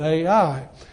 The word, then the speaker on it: Ai: First are the initial battles for two major cities, the city of Jericho and the city of Ai, which is spelled just like you say it, Ai.